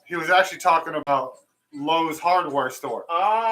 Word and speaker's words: Lowe's: He was mispronouncing. He's like, yeah, Louis. So I'm here. I'm like at Louis, but we were not supposed to go to Louis. He was going to Lowe's, the hardware store.